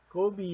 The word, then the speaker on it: Kobe: Okay, so just a trivia, Kobe Bryant was named after Kobe. So, Kobe is the original one, and Kobe is supposed to be pronounced as Kobe.